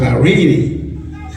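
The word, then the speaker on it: εἰρήνη: The word peace in Greek is pronounced irene, a state of tranquility, quiet, in harmony, absent of violence.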